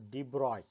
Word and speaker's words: de Broglie: french physicist louis victor d broccoli pronounced as debroy put forward the bold